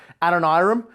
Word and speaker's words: Adoniram: how to pronounce it, there's really not an authoritative way to say it. Most historians and commentators will say Adoniram.